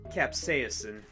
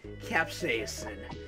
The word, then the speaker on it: capsaicin: have to pronounce this donut I think you pronounce it capsaicin I could be wrong but I think you pronounce it capsaicin that's EAP si I CIN capsaicin I'm going